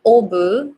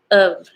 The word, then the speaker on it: of: So it's not obu, it's of. It's the schwa.